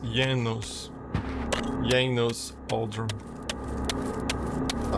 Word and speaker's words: Janos: key to my destiny it's not pronounced Janos is Yos Yos Al I like